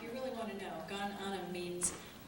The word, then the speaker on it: Gan Ainm: How do you pronounce it? Gan Ainm.